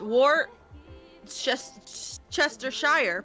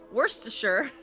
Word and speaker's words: Worcestershire: it says Worcestershire sauce War chest Chester Shire pronounced Worcestershire really in England you can